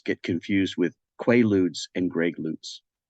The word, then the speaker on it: Greg Lutz: Now, let me ask you this, because I thought for years it was Greg LUTZ, LUTZ, Greg LUTZ. But then I heard you on another interview say it's Greg LUTZ. Is that the correct pronunciation?